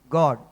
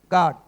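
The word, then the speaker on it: God: हम गॉड कहते हैं। जी ओ डी गॉड। बहुत सारे लोग गॉड को किस तरह से तोड़ मरोड़ो के कहते हैं ये आप समझ सकते हैं। अगर उसका मैं स्पेलिंग बनाऊं ना अपने तरीके से तो वो जी ए डब्ल्यू डी क्या बन जाएगा? गार्ड। ठीक है? हमारा पाकिस्तानी एक्सेंट या पंजाबी एक्सेंट की वजह से है।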